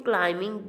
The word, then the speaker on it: climbing: In climbing, B is the silent letter.